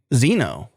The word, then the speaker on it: Zeno: saying your name wrong if it starts with z I'll answer yeah it's Zeno okay well I was